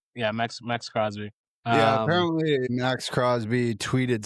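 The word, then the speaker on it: Maxx Crosby: Am I saying his name wrong? Max Crosby. Max Crosby. Is that his name? Max Crosby. Yeah, Max Crosby.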